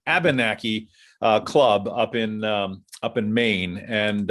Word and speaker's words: Abenakee: I knew I would say it wrong. I always put an R in there. Abenakee Club up in Maine.